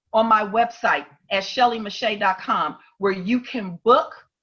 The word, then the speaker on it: Meche't: Instagram on my website you see how my name is spelled it doesn't look like mache but I guarantee you it is yes thank you listen